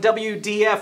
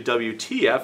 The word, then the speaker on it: WTF: Well, thank you so much for joining here on WDF, where we transform food in the Modernist Pantry Test Kitchen. And that's actually WTF, and